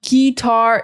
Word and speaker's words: guitar: Guitar, it's not guitar, it's just g. The sound is very short. Guitar. The emphasis is on the second syllable.